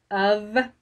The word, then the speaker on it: of: fs in of because we pronounce it of which sounds like OV so our brain kind of Skips right over it um so that's kind